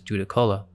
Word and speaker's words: Judaculla: The Cherokee called this giant Zukallu, which we now pronounce as Judakola.